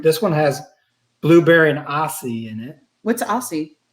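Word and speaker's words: açaí: one has blueberry and aussie in it what's aussie it's a type of uh however you pronounce that berry a-c-a-i i've never been sure how you say it a kai isn't that a kai this style you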